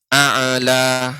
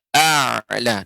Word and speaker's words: أعلى: Untuk pengucapan ain ya, tidak, bukan memantul dalam arti a'la, akan tetapi a'la, dia memanjang.